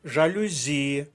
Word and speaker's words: жалюзі: течія слово іншомовного походження жалюзі наголос на звук і третій склад третя колонка поповнюємо третю колонку жалюзії